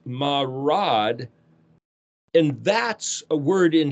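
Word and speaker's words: מרד: But the word mem resh dalet is pronounced marad, and that's a word in Hebrew that means rebellious and criminal, trespassers.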